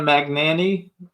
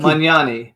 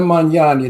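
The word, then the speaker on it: Magnani: says she likes Anna magani no don't manani Anna manani there's no magani in that I hate when people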